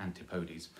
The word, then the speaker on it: Antipodes: not a tuma logical reason that it's not pronounced to Antipodes but it is pronounced Antipodes so its supplies